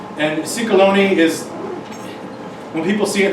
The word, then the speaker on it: Ciecalone: So, if you need to remember it, you can think of stick of baloney or sick pony or something like that.